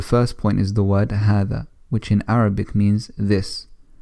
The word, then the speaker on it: هذا: But generally speaking, in books, in newspapers, and wherever else you might be reading Arabic, then it won't be written, but it's pronounced as هذا.